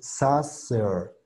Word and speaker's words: saucer: También se le conoce como schwa. Su sonido es este. E, E. Y junto con la R suena de esta manera. Air, air. Entonces saucer, saucer.